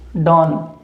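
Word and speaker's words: don't: बिल्कुल वही जो अमिताभ बच्चन की मूवी आई थी, डॉन, ठीक है। मात्रा नहीं है इसके ऊपर, ये हलंत लगा हुआ है, तो इसका उच्चारण इसी तरीके से होगा, डॉन, ठीक है।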